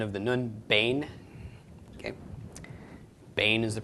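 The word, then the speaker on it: בן: by the end of the nun Bane okay Bane as the pronunciation of this word and Bane is a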